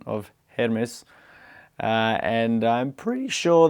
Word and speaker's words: Hermes: So, um, the typewriter's brand in Greek, as in the way that we say the Greek god's name, would be Hermes.